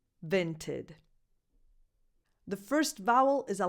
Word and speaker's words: Vinted: And then the last vowel is just a schwa because it's in an unstressed syllable. So you just go from the T to the D. Vinted, tid, vinted.